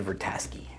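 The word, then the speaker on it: Vrataski: Blunt's character uh so it's Rita vertaski and that's how they say it and she's the uh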